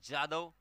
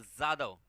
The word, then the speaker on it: जाधव: देखिए अलग अलग प्रोनाउंसिएशन होता है, जाधव और जाधव। महाराष्ट्र में जाधव कहा जाता है, यूपी में जाधव कहा जाता है।